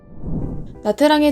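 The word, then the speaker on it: Nha Trang: 나트랑의 정식 명칭은 사실 낮짱이라고 해요. 하지만 우리나라에서 영어 발음 그대로 읽다 보니 나트랑이라고 알려져 있기도 하고 부르기도 훨씬 편해서 저희도 이번 영상에서 나트랑이라고 설명드릴게요.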